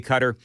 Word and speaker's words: Qatar: So that's the official pronunciation for me. It's going to be cutter.